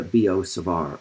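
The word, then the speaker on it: Biot–Savart: named after them and their last names are b-i-o-t and s-a-v-a-r-t and as we discussed these this result in the united states we pronounce those names b.o and savar so it's often called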